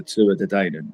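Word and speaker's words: Tuatha Dé Danann: If you look at Irish mythology, they're called the Tuatha De Danann, or as the Irish pronounce it, the Tuatha De Danann. The Irish pronounce it that way, which means the tribe of Dan.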